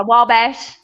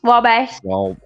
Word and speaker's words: Wabash: it what's it correct it's like wall w-a-l-l and then Bash oh yeah Wabash Wabash Wabash it's like uh okay